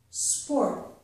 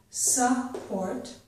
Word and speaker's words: sport: Sport. So the s sound and the p sound are right next to each other. Sport. There's no vowel sound separating them. It's not support.